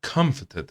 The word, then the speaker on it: comforted: میبینی تی رو انگار تلفظ نمیکنه، میگه I comforted her.